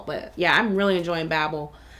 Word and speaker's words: Babel: But yeah, I'm really enjoying Babel. Excuse me, Babel. Let me say it like they say in the book.